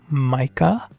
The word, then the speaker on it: Micah: the big one's called Micah because in basian Micah means mom and it kind of sounds like but it's spelled like Mike with an a at the end with an a like mic a mic Micah Mah is